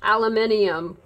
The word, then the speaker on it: aluminium: And she would say, yes, it's pronounced aluminium.